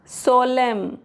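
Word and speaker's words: solemn: हिम सोलेम कॉलम कंडेम एन साइलेंट है।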